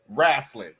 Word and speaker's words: wrestling: When I say something wrong, wrestling, and he jumps on me all the time, but he comes with water and axe. How do you pronounce that one, Marlon? Wrestling. Well, just take the W off.